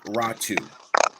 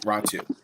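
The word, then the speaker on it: Räty: and yes it is spelled r-a-t-y it is pronounced ratu that's exactly it Matt so that's that's how it's done yes raw two so um I I really love do four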